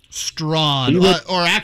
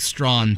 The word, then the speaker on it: Strachan: And, like, our number two receiver, Strachan, I don't know how to say his name. Strawn. I think it's Reggie Wayne, but yeah, Mike Strawn, technically.